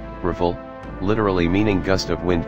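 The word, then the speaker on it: Rafale: aircraft number four the Das Al rle French pronunciation riffle literally meaning gust of wind comma 10 and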